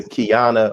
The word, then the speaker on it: Qiana: and also a member of Kingdom Come, Sister Qiana Muhammad. Did I pronounce that right?